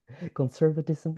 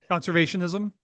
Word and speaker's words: conservationism: Conservative conservatism. It's not conservatism, right? Conservationism. Conservationism. Thank you.